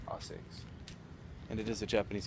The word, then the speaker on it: ASICS: And I'm sitting outside of the ASICS World Headquarters, but in Japan it's pronounced ASICS.